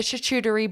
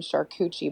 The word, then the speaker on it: charcuterie: and they need to eat the charcuterie boards the people around here call them charcucci boards because they don't know how to say it but it's fine